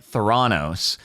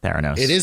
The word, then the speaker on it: Theranos: Today, we focus on Theranos, which I know when I first heard it, I started pronouncing it Theranos.